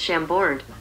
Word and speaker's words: Chambord: That's pronounced Chambord.